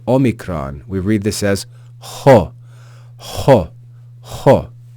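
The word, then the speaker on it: ὁ: that aspiration Mark or rough breathing is equivalent to the English consonant H so it's as if there's a letter H before this vowel the Omicron is pronounced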